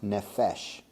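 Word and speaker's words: נפש: and then there's three letters those those are pronounced nephesh so nephesh has two meanings and this isn't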